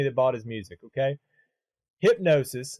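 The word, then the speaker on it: Hipgnosis: into the company that bought his music okay hypnosis spelled h-i-p-g-n-o-i-s-s o-s-i-s and it's this uk company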